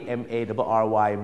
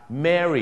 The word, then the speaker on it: Mary: เสียง ยัง ไง ครับ Mary อัน นั้น มัน จะ ออก เสียง สระ เอ หน่อย ฮะ Mary อย่าง เช่น ถ้า